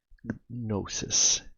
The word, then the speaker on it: gnosis: But for me, the Hanged Man is always about gnosis, Gnosis. It's hard for me to pronounce that word sometimes. Gnosis, without the G silent, I guess, right? Anyways, like gnome.